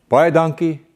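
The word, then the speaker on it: baie dankie: thank you very much you say it like you would say it when you purchase one of those horses with the long ears by a donkey so remember if you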